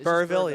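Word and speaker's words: Burrillville: So it's it's there's you don't pronounce the L, right? Right. No, it's just Burville.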